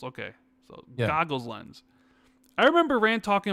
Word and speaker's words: Goggles: It's goggles, not Googles. Okay, so Goggles lens.